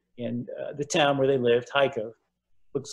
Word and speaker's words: Kharkiv: Many, many Jews in the town where they lived, Kharkiv, looks like Americans say Kharkiv, but it's pronounced Kharkiv.